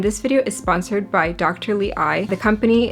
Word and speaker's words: DTLEYE: colored contacts and this video is sponsored by dr lee i the company it's spelled d t l i but it's pronounced dr lee i so they actually were kind enough to reach